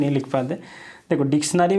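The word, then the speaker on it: dictionary: देखो डिक्शनरी में बोला जाता है डिक्शनरी, श का एक साउंड आता है, बट यहाँ पे S का इस्तेमाल कहीं भी नहीं होता है, इसको लिखा जाता है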